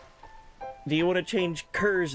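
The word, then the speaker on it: Kir: I'm going to say Kerr because it because it reminds me of the word sir but with a K in before. It's actually pronounced Ky or Kier.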